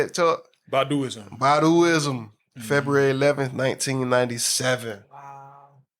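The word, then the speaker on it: Baduizm: Baduism.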